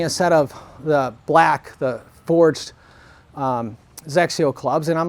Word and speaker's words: XXIO: He goes, well, it's spelled XXIO, but it's pronounced Zexio.